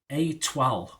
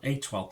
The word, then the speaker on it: Étoile: Étoile, there you go, Étoile, an 8-part comedy drama, and it's about the